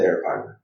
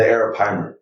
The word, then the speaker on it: arapaima: I remember I remember watching the show River Monsters, and there was a fish called the arapaima. The what? The arapaima.